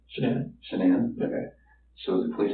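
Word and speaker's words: Shanann: yes and I don't want to pronounce her name wrong Shen name shanan shanan okay so the police have shannan's phone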